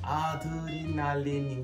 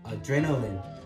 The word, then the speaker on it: adrenaline: 한국어로 보면 아드레날린인 것 같은데요. 이거 원어민한테 말하면 알아들 가능성이 크지 않을 것 같아요. 그래서 여기서 Adrenaline, 그러니까 Ren, Adrenaline 이렇게 말해야 됩니다.